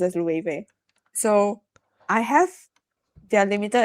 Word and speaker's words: Loewe: Well, I think a lot of people Okay, a lot of people pronounce it as Loewe, but it's pronounced as Loewe.